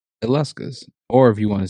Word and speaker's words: Illescas: Uh, it's Allescus.